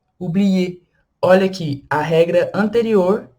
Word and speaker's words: oublier: Então, exemplos, como o verbo esquecer em francês, que é o verbo oublier, oublier. Olha aqui, a regra anterior, que a gente acabou de ver, o ER com som de E no final, e o